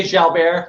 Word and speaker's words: Jalbert: your name is it delbert it's fine i i take all pronunciations i say shall bear you know it's french canadian but i think albert